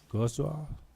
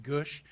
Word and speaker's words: Gwodz: I have Gto. Good evening. Thank you, mayor. That was a nice try. My last name is pronounced Gush.